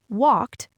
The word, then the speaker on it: walked: like in the word walked, w a l k e d, and they assume that e d forms a new syllable. They pronounce it walk. Two syllables.